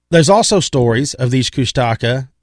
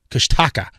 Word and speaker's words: Kushtaka: could say Kush, because the first one I read was Kush, K-U-S-H, and then a T-A-K-A, Kushtaka. That was the very first pronunciation of the spelling that I had seen.